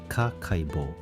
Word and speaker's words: Kakeibo: The notebook is called a Kakeibo, pronounced Kakeibo.